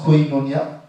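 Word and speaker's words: κοινωνία: En grec, qui se prononce koinonia, c'est-à-dire communication ou communion fraternelle.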